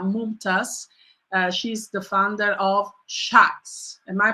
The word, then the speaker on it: Shaks: She's the founder of Shaks. Am I pronouncing correctly?